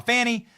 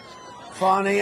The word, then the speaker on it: Fani: funny it's spelled Fanny it's spelled Fanny like your ass right Fanny but when she became da she decided to add a little French a little fancy fny fonny and F you know fonny and Mr and Mrs